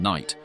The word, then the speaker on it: knight: of pronunciation for example words like knife and Knight retained the K even though the K was no longer being pronounced William caxton's Legacy in